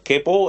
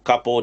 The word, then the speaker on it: capo: You clamp it across the guitar wherever it suits, and it's called a capo, and you or capo, depending on how people pronounce it, basically it acts like a clamp.